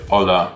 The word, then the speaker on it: hola: word would be like hola which is um spell that holla h-o-l-l-a but um you would say hola so the h is silent so if you're an